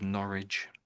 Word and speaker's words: Norwich: Your pronunciation that was very good. Norwich.